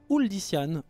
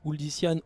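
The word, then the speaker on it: Uldyssian: La tête d'affiche de cette seconde génération, enfin cette deuxième génération, c'est tout simplement Uldician, Uldician, Uldiomède, ou Uldician, Uldiomède, vous prononcez comme vous voulez.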